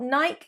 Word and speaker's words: Nike: It is Nike. Nike, not Nike, but Nike. Nike being the Greek goddess of victory. So that's a nice, easy one to remember. 2 syllables, not 1. Elongate the E.